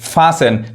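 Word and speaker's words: fasten: सुनना उसी तरह देखिए फसन टी एन आ रहा है टी नहीं पढ़ेगा फास बांधना ग्लीसन चमकना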